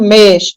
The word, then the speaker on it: mês: mês assento no caso como o mês é fechado ele é tônico né porque eh ele é pronunciado com força né digamos assim então como ele é fechado tem um timbre fechado ele leva o que a gente chama de chapeuzinho que é o assento circunflexo quando o som é